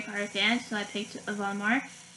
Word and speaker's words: Voldemort: fan, so I picked Voldemort. And that's how you pronounce his name, by the way. It's not Voldemort, it's Voldemort.